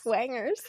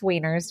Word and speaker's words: wieners: Wangers. I mean, it does sound alike, but no, sound alike. It's wieners, just pronounced with a Texas whiners.